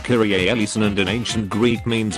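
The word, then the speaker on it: Kyrie eleison: best friends got matching tattoos that say it's pronounced kyrie ellison and an ancient greek means lord have mercy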